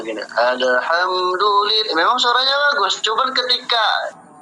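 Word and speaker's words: الحمد لله: Jangan pula kayak wawa tuh pula bacanya gini. Alhamdulillah.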